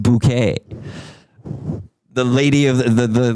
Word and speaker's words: Bucket: Yeah, somebody's already It's It's bucket. Uh, hi synth. Bucket. It's spelled like bucket. B U C K E T. So, everyone would call her B Mrs. Bucket. And she'd be like, "It's Mrs. Bouquet."